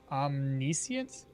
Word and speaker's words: omniscient: Omnisient stress on the second. Omniscient.